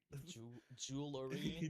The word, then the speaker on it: jewelry: Yeah, the cheap poor people jewelry, Jewelry. jewelry. It's a hard word to fucking say. It's like brewery, Brewery. brewery. You don't have to pronounce the E. It's just jewelry.